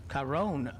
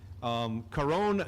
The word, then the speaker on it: Caron: Caron Brabham. If I could roll my R, I could say his name properly.